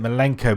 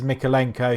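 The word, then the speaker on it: Mykolenko: Mikalenko, I think I pronounced it Milenko before, so I do apologise. So it is Mikalenko.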